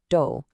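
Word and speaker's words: 도: In Korean, this is pronounced do and it means rice.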